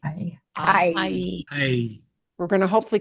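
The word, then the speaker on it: hay: And notice there's only one letter difference, but we pronounce all these letters except for the H. I. Ay.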